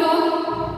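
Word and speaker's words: tall: नहीं, नो, क्योंकि यहाँ पे एल क्या है, look at, look at the word टॉल, here L is silent.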